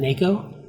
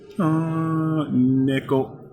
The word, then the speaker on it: neko: But in Japanese, isn't the E like an A sound, so isn't it Neko? Neko. Neko? It's halfway between A and E.